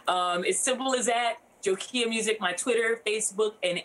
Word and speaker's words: Jokia: anywhere music is released my name if you're wondering how it's said it's like nokia phone but with the gym awesome awesome awesome um